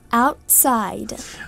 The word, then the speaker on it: outside: Outside. Outside, где делается ударение? На out или на side? Или там и там? Outside. Больше на, outside. На первое, да?